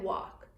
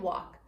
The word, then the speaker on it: walk: two yep talk and walk talk and walk both have this L which is on therefore it doesn't doesn't tap out we don't think at